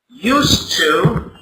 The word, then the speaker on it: used to: z sound but here used to is pronounced with an S sound so what's the difference